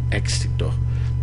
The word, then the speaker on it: éxito: mi hermano tiene mucho éxito. Okay, notice the accent of the word éxito. Entonces éxito, éxito. Okay, because the accent is on the E.